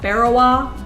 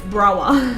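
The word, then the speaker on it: Berawa: It is spelt like Barawa, but I have learnt the locals are like, it's Brawa.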